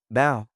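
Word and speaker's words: bão: Pronunciation tip bow rhymes with down without the d. Repeat after me. Bao taba dease.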